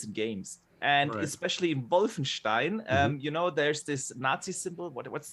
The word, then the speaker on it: Wolfenstein: Before we give it to Addict, Boxer, give me that correct German pronunciation. I love when he says, what's that? Wolfenstein.